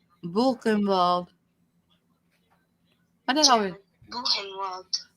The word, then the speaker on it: Buchenwald: Buchenwald. Buchenwald. My dad always. Buchenwald. My dad always pronounced the W's like V's.